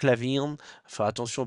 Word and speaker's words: LaVine: côté des des Bulls c'est Zac Lavine Lavine Lavine pardon Zac laavine faire attention aux prononciation